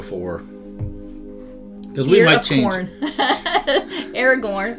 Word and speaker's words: Aragorn: cuz we might chn Aragorn remind y rhymes with ear of corn easy for me to